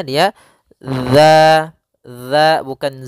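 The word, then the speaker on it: ذ: makhraj huruf dalal yaitu ujung lidah menempel dengan gigi seri atas gigi seri atas sehingga pelafalannya dia dza dza bukan Za ya dia tidak dialirkan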